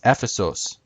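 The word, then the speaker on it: Ἔφεσος: Now you can see in these examples, Ephesus in English, it ends in US. However, that's a Latinized version of the Greek word, which the Greek word ends in OS.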